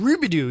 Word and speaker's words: Robidoux: I heard that everyone pronounces her name wrong, and it's actually pronounced. Rubidoux. It's actually pronounced Rubidoux.